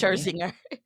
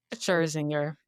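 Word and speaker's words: Scherzinger: Sherzinger. Sherzinger.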